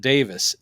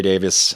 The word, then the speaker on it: Davies: he always pronounces it Davis it's spelled Davies but he always goes Greg Greg Davis and I'm like that's probably apparently true with Ray Davis from The Kinks yeah